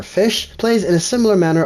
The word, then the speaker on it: Ghoti: first interaction with them goatee or the proper pronunciation is fosh or fish plays in a similar